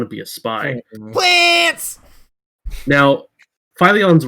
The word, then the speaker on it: Fillion: fillion for what oh for us assuming that it's pronounced philly gotcha oh phyllion yes sorry finally you know